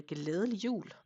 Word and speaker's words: glædelig jul: Merry Christmas in Danish is a glædelig jul. which is a lot of fun letters and a soft D and all that stuff.